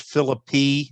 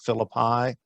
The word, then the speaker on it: Philippi: virginia native they want you to know it's pronounced phillippe not philip high and i always get that mixed up okay i i will say with respect to the west virginia native i have been to philippi i have been there on the heights of